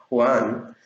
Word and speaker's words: Juan: Por ejemplo, mi nombre, Juan, Juan. Mis amigos me dicen Juan, no es Juan, es Juan. Ni siquiera pronuncian Ju, porque no saben. Para ellos, Ju no se escribe así. La J en inglés todos sabemos que tiene un sonido de Y.